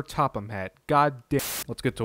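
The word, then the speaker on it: Sir Topham Hatt: Someone tweeted me a picture of Professor Topping Hat holding a gun. As I'm editing this, I realized I butchered his name. It's Sir Topham Hat.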